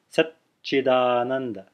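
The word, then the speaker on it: saccidānanda: So it's sat, silence, chidananda, sat, chidananda. There's a gap there. There's a pause there, which is really the extending of the first consonant in a silent manner.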